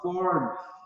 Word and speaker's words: fourth: Então, a pronúncia, a gente tem que fazer assim, tipo um chiadinho com o dente no lábio, tá? Para falar o fourth, tá?